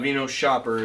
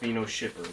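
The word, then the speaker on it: Vinoshipper: wrong for like ever it's not v no shopper it's me no shipper but if you've gone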